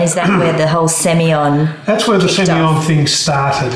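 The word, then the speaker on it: Sémillon: in the hunter valley you pronounce semi-on different to other parts of australia yeah i say civil war semillon yeah um like i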